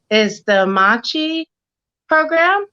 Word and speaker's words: Amachi: if I'm not saying it right, is the Amachi program. Amachi, Yeah.